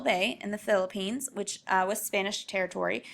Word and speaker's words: Philippines: the Philippines um this is how you say Philippines and then this is how you would talk